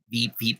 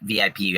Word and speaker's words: VIP: Veep ticket, Veep. Sorry. Yeah, and I'm sorry, in Japanese we just call it Veep. But VIP, I guess, would be the correct way to say it in English.